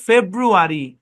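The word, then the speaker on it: February: এটা রিউ না, রু। হ্যাঁ, রু। কি এটা? রু। আচ্ছা, ফেব্রু, আর ই, মিলায় পড়লে ফেব্রুয়ারি।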